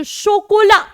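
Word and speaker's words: chocolat: आगे है भाई हम सबकी फेवरेट शोकोला, ला शोकोला। CH आपको पता है फ्रेंच में क्या बन जाता है? CH बन जाता है श, तो ये चोकोला नहीं है, शोकोला।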